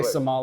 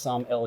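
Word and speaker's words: sommelier: s most people say somal it's actually pronounced samel yes think about Sam and then the letter L and then yay I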